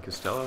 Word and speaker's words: Costello: also another error I think I said and Costello last time but I pronounced it like Albert cell I don't know